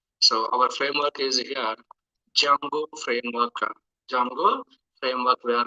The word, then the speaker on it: Django: we are learning guys so here D is a silent word guys that's why Jung D is a silent character that's why Jango framework we are calling so as a student if you are pronouncing like Django also no problem so sometimes we are calling like a Django sometimes we calling like a Jango framework okay later we will